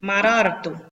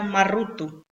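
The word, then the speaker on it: مَرَرْتُ: Si está muy complicado, lo que tenemos que entender aquí es leer marartu. ¿Cómo sonaría si yo dijera marrutu? Ni siquiera lo puedo pronunciar, marrutu. No podría pronunciarlo. Entonces, se desasocia y queda marartu.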